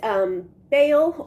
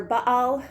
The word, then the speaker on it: Baal: coming back to is Baal or Baal. I usually call it the second one is the Hebrew pronunciation, but it's Baal is often what you'll hear in English.